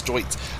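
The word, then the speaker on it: Deutz: i'll have all deuts i'm saying it right it's not dudes it's joints i'll have a whole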